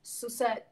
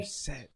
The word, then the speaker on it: Sussett: My second name is pronounced Sussett, by the way. Sussett.